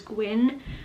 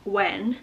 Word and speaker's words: Gwyn: was initially reading this, I thought it was Gwyn, but then when I did my last clip, I was like, I think it actually is pronounced Gwen. Then after I filmed that clip, I was thinking it sounded a little odd considering the spelling, so I googled it, and it is in fact Gwyn.